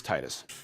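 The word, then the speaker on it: Tidus: Japanese it's tedious accepting in Japanese is written phonetically so it's tedious it's very specific it sucks it's Titus its Titus my original point was is I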